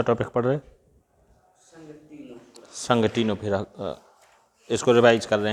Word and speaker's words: Ctenophora: संघ टीनोफोरा। संघ टीनोफोरा, ठीक है, या इसी को इंग्लिश में बोलेंगे फाइलम टीनोफोरा। टीनोफोरा की स्पेलिंग है CTENO, CTENOPHORA, संघ टीनोफोरा।